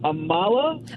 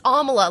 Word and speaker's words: Amala: you pronounced your name Amala uh it's Amela like Kamala without the K oh okay I got